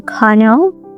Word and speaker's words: colonel: On the other hand, in British English, it's also colonel, but without that strong R, just a long vowel sound like colonel, colonel.